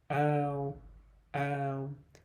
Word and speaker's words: ao: So the or combination is pronounced ow, ow.